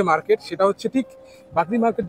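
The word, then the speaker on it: বাগড়ী: আসলে এই মার্কেটের নাম বাগরি মার্কেট, BAGREEMARKET, বাগরি মার্কেট লেখা আছে। এটা অনেকের উচ্চারণগতভাবে অনেকে ভুল উচ্চারণও করে থাকে।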